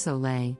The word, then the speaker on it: Sole: about this amazing 100 natural drink soul water pronounced soleil is not a miracle cure or hip new